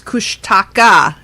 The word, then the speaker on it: Kushtaka: It's Kushtaka, not tacos.